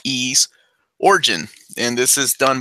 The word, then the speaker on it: Ys: limited edition of ease contrary to popular believe that it's not pronounced wise this is es origin and this is